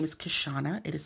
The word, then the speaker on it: Kishshana: no my whole name is my name is kashana it is spelled k-i-s-h s-h-a-a-n-a my whole life you can